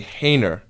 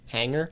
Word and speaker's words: hanger: I would say hainer.